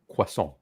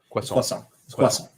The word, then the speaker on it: croissant: But sometimes I get the chocolate one and that um in French it's pano chocolat and should I say croissant quason quason um and that's that's straight when I when I actually do bother to go into work and not work from home.